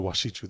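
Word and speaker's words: wasichu: The washichu, that's how you say it in Lakota.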